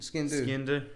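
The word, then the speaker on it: sgian dubh: It's spelled very strangely. It is. Yeah. Ski and do. Ski and do. Yeah. But skiing is spelled SGIAN and then DUBH.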